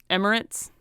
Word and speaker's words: Emirates: merit Ritz and merits I forget how to pronounce that I used to know it'll be double that Emirates is that right yeah yes interesting uber playing